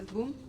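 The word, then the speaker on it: Bum: His boom is spelled B-U-M, but he's French, so he says boom.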